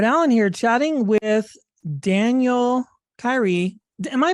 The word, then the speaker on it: Kyri: try to catch them if they're if they pronounce it wrong but it is Kyrie that's right well perfect well thank you for